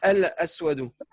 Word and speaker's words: الأسود: Non, c'est al-aswadu.